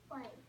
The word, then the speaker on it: white: White. White. How did you know that that's a long I? Because there's a silent E. There's a silent E on the end.